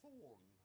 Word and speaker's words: Thorne: This is Professor Thorne. Thorn. I'm sorry? It's Thorn. The TH and E are silent.